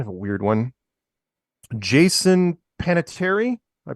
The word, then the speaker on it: Panettiere: this is kind of a weird one Jason panatieri I pronounce that right peanut Panettiere Panettiere Panettiere he uh actor and brother of Hayden